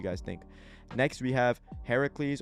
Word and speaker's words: Heracles: think next we have heracles or hercules i think it just depends i think this is the greek one so it would be heracles i think it's pronounced but i may be wrong versus jack the ripper